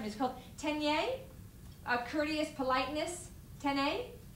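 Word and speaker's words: 丁寧: 10y a courteous politeness Tenay like the word Nene thank you so teeny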